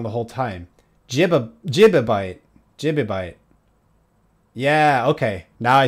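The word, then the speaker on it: gibibyte: Jibabyte. Jibabyte. Yeah, okay. Now I see. GB is gigabyte. GIB is gi jibabyte. Jibabyte.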